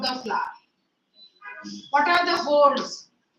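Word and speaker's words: whorls: the parts of the flower are known as holes of the flower what are the holes w w is silent now H pronunciation starts from H the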